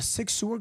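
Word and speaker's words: Sig Sauer: Beach South Carolina investigations located a sigu a Sig sewer gun that that that's how you say it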